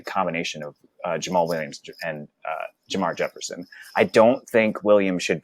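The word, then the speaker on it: Jermar Jefferson: And we also can't count out Jamar Jefferson, who we drafted this year, or who the Lions drafted, because you get all annoyed when I say it.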